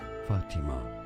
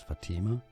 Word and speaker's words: Fatima: Fatima is how it's said in Arabic. Fatima pronounced in English as Fatima.